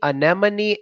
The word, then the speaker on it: anemone: got a say in me many an enemy anemone anima and me many and Jesus and me